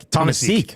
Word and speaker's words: Tomaszek: I think it's Tom A. Seek. Tomaszek. Okay. Tomaszek. I think that's what it is. Tomaszek. There's lots of different the ways. S is silent.